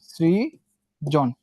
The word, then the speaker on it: সৃজন: আবার দেখো সৃজন, এখানে স্বর সঙ্গে কি ছিল, রিকার যুক্ত ছিল, সেই জন্য এটা দন্তস্বই থেকে যাবে, সৃজন।